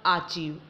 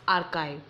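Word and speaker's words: archive: word is आर्काइव आर्काइव इट्स नॉट आर्चीव आर्चीव इट्स आर्काइव meaning of this word is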